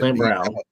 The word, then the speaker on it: St. Brown: My bad if I'm mispronouncing. Correct. You said it right. Okay, I'm Ross yeah. St. Brown.